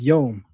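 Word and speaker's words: יום: Yedish and Hebrew share a few words but pronounce them differently. The Hebrew word for day is yom.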